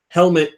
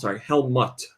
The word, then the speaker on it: Hellmutt: stuff, Gyro Boss DX, Helmet, the Badass from Hell, Hexagravity, that's Helmut, like the dog, like a dog mutt, not helmet. Helmut. So it's spelled HELLMUTT. It's just MUT, but it is a dog.